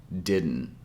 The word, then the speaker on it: didn't: here on the word didn't notice how we don't pronounce both D sounds with the hard D sound as in day we pronounce the first